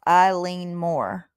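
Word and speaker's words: Eilean Mòr: It's the island's name is pronounced Eileen Moore. Eileen Moore. Eileen Moore. I'm gonna Okay, go so back now and I see it. I lean more.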